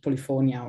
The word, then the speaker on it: Polifonia: Polifonia, which is the Latin pronunciation, but you can call it Polifonia or as you like,